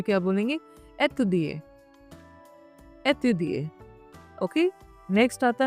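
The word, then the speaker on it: étudier: अब यहाँ पे देखिए, यहाँ पे ये एक्सेंट है, एक्यूट एक्सेंट है। एक्यूट एक्सेंट में क्या होता है? जो ई का साउंड होता है थोड़ा बढ़ जाता है, स्ट्रेच करते हैं।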